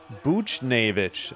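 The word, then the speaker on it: Buchnevich: B Navic.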